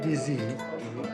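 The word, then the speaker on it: dizi: How do you pronounce the specialty here, Dizzy? What they serve is called DZ, which actually is the name of the pot.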